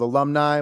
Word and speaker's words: ALVMNII: I'm also in a group called Alumni, which is spelled ALVMNII.